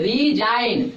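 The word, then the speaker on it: resign: आर आर ई एस आई जी एन हां रिजाइन रिजाइन एस का उच्चारण किसमें किस में होता है?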